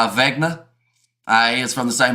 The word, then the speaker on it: Wagner: You know, Wagner is pronounced Wagner.